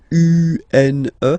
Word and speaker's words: une: Then the feminine article is here, and it's easier because if you have this U-N-E, then you pronounce it une.